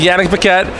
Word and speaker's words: Yanick Paquette: get it closed so so we're here with Yannick Paquette he is I prove this pronunciation he recently completed one woman to earth